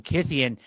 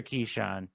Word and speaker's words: Keyshawn: I kept calling him Kissian because Keyshawn is spelled K-E-Y. The other Keyshawn. I guess it's Keyshawn, K-I-S-E-A-N.